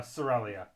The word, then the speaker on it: Sorelia: things right here uh sorelia that's how you pronounce that one that's weird ass names